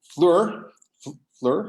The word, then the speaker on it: Fleur: For those of you watching on Zoom or on Facebook, Fleur is, that's the way you pronounce it, not Fleur, like a lot of people, like I thought also.